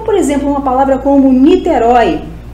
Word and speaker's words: Niterói: exemplo uma palavra combo Niterói Niterói é uma palavra oxítona termina em o e que é aberto continua com acento por ser oxítona a palavra céu monossílaba